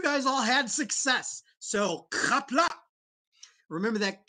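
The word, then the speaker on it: Qapla': Remember that the apostrophe cuts off the sound at the end. So do not say kapla, say kapla.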